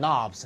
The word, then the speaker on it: knobs: Placement of the buttons and knobs. knobs는 손잡이에요. K가 묵음입니다. 네, 이게 발음이 안 돼요.